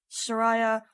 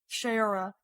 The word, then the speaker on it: Shayura: So I just worry because we've seen what happened to Soraya. I said her name wrong again. Frack. Shayura.